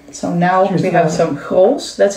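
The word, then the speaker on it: Grolsch: So now we have some Grols. That's how you pronounce it.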